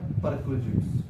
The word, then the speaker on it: perquisites: और वहां पे क्या लिखेगा, परक्विजिट्स, PERQUISITES, परक्विजिट्स।